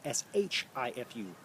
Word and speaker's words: Shifu: or instructor and seafood it also could be pronounced with a diphthong and the prefix of the word instead of the Sifu si fu it could be also a spelled SH I fu Shifu call it what you